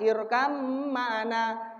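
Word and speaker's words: ارْكَبْ مَعَنَا: Contohnya irkam ma'ana, padahal tulisannya irkab ma'ana, bacanya irkam.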